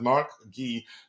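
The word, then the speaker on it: Marc Guiu: Guri Mguri uh M Gee I think he says his name is pronounced Mark Gee Mark Gee is shown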